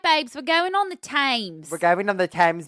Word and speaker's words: Thames: south bank of the Thames River. And we've talked about the Thames before, and I want to call it Thames, because that's how it's spelt, but I looked it up and it's Thames.